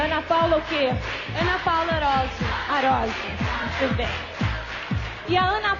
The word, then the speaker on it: Arósio: Ana Paula Arosio Arosio, very good!